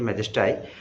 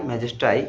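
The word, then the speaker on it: majesty: ছিল হচ্ছে ম্যাজেস্টাই ওকে ম্যাজেস্ট্রি আমরা যেটা উচ্চারণ করি সেটা ম্যাজেস্টাই তো এখানে বাই ম্যাজেস্টাই এই যে মিলটা এই মিল গুলোকে বলে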